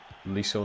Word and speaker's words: Liso: It's Liso, not Listo. Why am I calling him Listo?